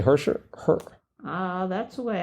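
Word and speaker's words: Hershiser: the middle after heser they don't pronounce it they just say hersher her uh that's the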